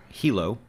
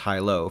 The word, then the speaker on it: Hilo: It is spelled Hilo, like Hilo, Hawaii, but is pronounced Hilo, from what I gather.